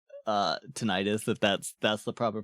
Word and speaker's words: tinnitus: Usually it's pronounced tinnitus. Gotcha. Yeah, it's one of those things where like I probably will I'll probably try and say tinnitus if that's the proper pronunciation, but it's like